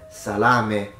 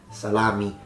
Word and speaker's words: salame: to our last two words not minestrone and salame not salami now once again when it comes to musalami